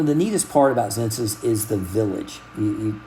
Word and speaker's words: Xenses: So that afternoon, we decided to go to Zenses. That's it's like Census, Sen, but it's spelled Zenses with an X.